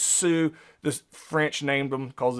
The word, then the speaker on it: Sioux: This is pronounced Sioux. This French named them because it's pronounced completely differently than it's spelled the Sioux, but it's pronounced the Sioux Indians.